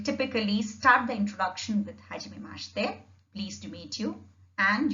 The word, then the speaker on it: hajimemashite: The first is hajimemashite. Hajimemashite. I have split it up so that the pronunciation is a little easier to follow.